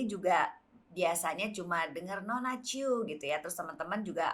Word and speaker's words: Tjioe: Nah, nulis Chu-nya nih Chu-nya gimana itu nih? adalah TJIOE. Ejaan lama. Ya, pakai ejaan lama ya. Mungkin kalau adik-adik kita yang milenial nih ejaan lama ini apa? Chu itu TJ. TJIOE ya.